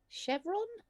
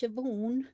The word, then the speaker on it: Siobhan: on the list and she went um oh uh chevron and there and the girl goes numis it's siobhan and she's like do